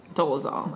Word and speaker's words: Dolezal: Because, I mean, everyone knows about, how do you pronounce her last name? Dolezal.